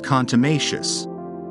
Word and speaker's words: contumacious: Today's word is contumacious.